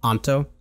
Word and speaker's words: Anto: onto is is that is that a correct pronunciation we want to get your name right we're really bad at that anto okay awesome that is definitely not our strong